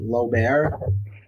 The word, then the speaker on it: Loebair: Is it Lober? Yes. It's hard to pronounce.